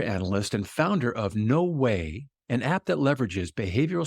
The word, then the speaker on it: Weigh: no way and when I say way that's pronounced way but it's spelled Wei G Val I want